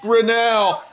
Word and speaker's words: Grinnell: My first name is pronounced, and my last name is pronounced Grinnell.